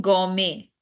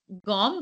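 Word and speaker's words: gomme: pronounced go yeah gum generally people make a mistake by saying gome but why a because e is a in front so G so there is a very slight there is a a gum but they speak so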